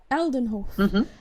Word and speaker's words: Aldenhof: Aldenhof.